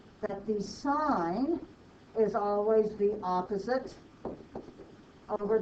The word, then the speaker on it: sine: You may want to include in there that this one is pronounced sine, this one means cosine, this one means tangent.